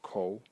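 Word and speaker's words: 口: And the semantic element in it is this part over here, which is pronounced ko, and it is a mouth.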